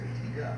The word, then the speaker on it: Antigua: Antigua, if I see it, because it's spelled G-U-A, but it's pronounced Antigua.